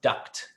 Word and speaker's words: duct: I'm pronouncing this word I don't pronounce the entire thing it's duct D u CT tape